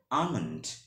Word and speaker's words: almond: ঠিক আছে, আমেরিকান ইংলিশে উচ্চারণটা হবে হচ্ছে আমন্ড। এখন উচ্চারণটা দেখেন, আমন্ড।